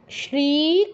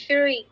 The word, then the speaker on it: শ্রী: ইকার তাহলে শ্রী বলো শ্রী না তোমার শ্রী শ্রী শ্রী আমরা বাংলায় যেমন বলি না সদা সত্য কথা বলবে তো এখানে স এর উচ্চারণটা যেমন হচ্ছে সংস্কৃত তালব্যসের উচ্চারণটা ঠিক তেমন শ্রী শ্রী বলো শ্রী